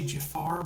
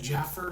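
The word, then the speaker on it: Jaafar: of this because her brother Jermaine, who is Jaffar's father, that's how he pronounces. I know most people say Jafar, but it's really Jermaine.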